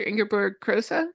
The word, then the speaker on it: Ingeborg Kroese: Ingerberg Crosa. How's my pronunciation?